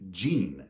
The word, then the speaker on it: gene: There's also the name Gene, J-E-A-N, which is pronounced exactly the same as gene, as in your genes, your genetic makeup.